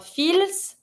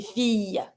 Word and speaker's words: fille: Every time you have the double L, it's not going to be fil, it's going to be fille.